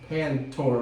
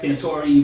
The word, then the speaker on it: Pantore: We got Pantore, right? Yep. Pantore? Yep. I pronounced it right? Pantore, but you All good.